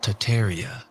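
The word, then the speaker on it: Tataria: what is tartaria really tartaria originally pronounced Taria without the first R is the name of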